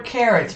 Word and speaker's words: Carottes: What if we call her carrots, but we spell it the French way?